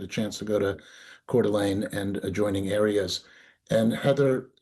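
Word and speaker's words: Coeur d'Alene: That's Cordelane, Idaho. Northern Idaho. Beautiful, beautiful small city. if you ever get a chance to go to Cordelane and adjoining areas and Heather Dal Mullen from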